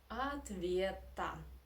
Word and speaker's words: ответа: Next, of course, you know that ответ, here again Russian reduction works, that O, unstressed, we pronounce as A, ответа, because the stress is where it is on E, ответа.